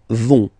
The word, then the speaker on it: vont: And the last persons, ils, elles, vont. Ils vont, elles vont. Okay, remember, final T not pronounced, so you get this ON nasal here. On, vont. Okay, so let's see them one more time.